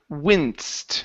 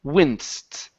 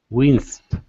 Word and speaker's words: winced: Uh, next up we have the word wincsted right here. Winst. Winced.